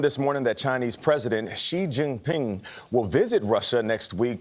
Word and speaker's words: Xi Jinping: I mean, Xi is the correct way to say it. Isn't it Xi Jinping?